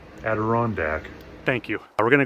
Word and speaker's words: Adirondack: I'm going to go ahead and set my tarp up here in the Idandac. Iderand I don't even know how to pronounce it. Future Justin Aderandac.